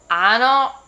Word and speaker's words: hanno: so for this one we don't really pronounce the h as like a ha we just pretend like it's silent most of the time so we're going to again say ho hai ha hanno hotel the next one is